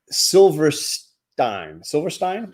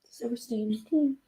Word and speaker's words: Silverstein: Silverstein? Am I saying it right? Silverstein.